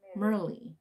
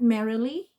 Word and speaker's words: merely: pronounced as merely merely merly so there are only two syllables merely merely not merrily but it's merely merely